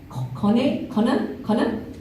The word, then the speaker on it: KONE: We've got 2 HR practitioners from very diverse industries, and which is Minna from, let me get this pronunciation right, KONE, which is one of the, I just learned,